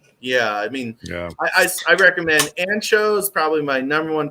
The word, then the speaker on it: Anxo: Like they were the first place I got to try Ancho. Ancho is spelled ANXO.